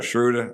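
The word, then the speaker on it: Schröder: is how you say his name schroeder intruder schroeder i said it right i was saying schroeder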